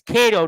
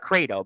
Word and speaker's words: Kato: But it's Kato, not Krato, by the way. It's yeah, you spelt the name wrong. K-A-T-O.